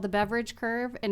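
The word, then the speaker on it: Beveridge: Landing I love that it's called the beverage curve it's not spelled like beverage but it sounds like beverage and it just makes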